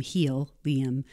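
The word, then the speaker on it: Healium: product was on purpose it's spelled H EA L I um he'll Liam but putting it back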